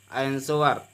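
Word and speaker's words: answer: क्या लिखा है, आंसर। तो एस के बाद क्या आया है, डब्ल्यू आया है, तो डब्ल्यू साइलेंट हो जाएगा। इसको पढ़ेंगे आंसर।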